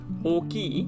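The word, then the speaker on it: 大きい: i do have to point out that o ki when you put an o ki it's a lengthened o in the beginning but not lengthened in the way in hiragana that we would usually lengthen it so usually we would do hiragana or followed by the hiragana u and that would be a way to lengthen it all but in this case it's all followed by another o and then key at the end it's an e adjective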